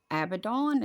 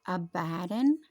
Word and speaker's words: Abaddon: whose name is in the Hebrew tongue is Abaddon as some of you Youngs were calling but it's pronounced abaddin but in the Greek tongue hath his name